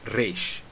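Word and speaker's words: ריש: Então você pode falar Reish, Reish, tá bom? Mas quero enfatizar aqui que você não pode usar o som do Re, que é o som do R em rato, tá bom? Não existe uma letra Resh. Existe uma letra Reish, ou você pode falar também a letra Resh, ou você pode até utilizar o som do R, por exemplo, em porta, dita por alguém do interior de São Paulo.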